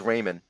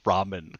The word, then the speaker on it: ramen: for dinner uh well as wally says raymond yeah raymond which is like dude you grew up in queens you should know how to pronounce ramen it's like come on